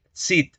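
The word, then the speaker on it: Çid: Aquí deberíamos decir Cid, es decir, pronunciando el africado alveolar sordo. Recuerden que la C con cedilla hace referencia al africado alveolar sordo. Entonces deberíamos decir el miocid, si lo pronunciamos al modo medieval.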